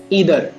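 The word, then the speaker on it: either: और तीसरा शब्द हमारे पास में है ईदर। इसे कुछ लोग आइदर भी पढ़ते हैं और ईदर भी पढ़ते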